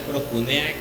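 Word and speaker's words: προσκυνέω: la adoración viene de una palabra que se pronuncia procunea que significa como postrarse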